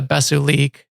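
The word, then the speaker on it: Bes'uliik: it a couple times there's a Mandalorian word for the Basilisk droids which was a Basu leak I think it is Bes apostrophe u-l-i-i-k so she says best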